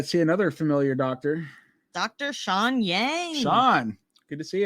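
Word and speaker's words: Xiang: so funny every time they call him sean and then they put his name on the screen and it's spelled x-i-a-n-g and i mean i guess that's how you say sean and well that's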